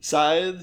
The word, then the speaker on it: Scythe: you're not i would not how do you spell it i feel like it might be hard to understand the word you're saying scythe so it's the objects of a scythe is